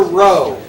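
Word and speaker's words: rho: you use this symbol it's the Greek letter row how do you spell that r h o it's row it's the Greek letter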